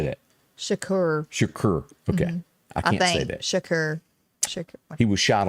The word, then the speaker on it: Shakur: you should acquire how do you say that shakur shakur okay he was shot on this day